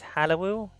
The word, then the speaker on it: Hallowoo: Well, the way I would pronounce it is Hallowoo.